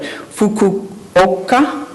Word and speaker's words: Fukuoka: Brock, if I mispronounce this, I hope I do it right, Fukuoka, thank you, Japan.